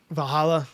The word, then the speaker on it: Valhalla: Val how do you pronounce her name? Valhalla.